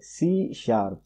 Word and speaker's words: C#: It is pronounced as a C#.